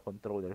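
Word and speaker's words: comptroller: known as controller lang, or controller yung spelling, pero controller pa rin yung pronunciation niya.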